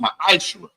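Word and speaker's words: מַעֲשֵׂר: Means tenth in the Hebrew and is pronounced ma'ashra.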